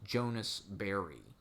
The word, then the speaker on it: Ashbery: guess in the 60s his pen name was jonas berry because that's kind of sounds how french people pronounce john ashbery jonas berry jonas barry